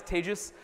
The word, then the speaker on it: Tejas: fantastic um as mentioned my name is tejus that's pronounced like contagious um and for those of you who think it's Tejas it's not um and you know I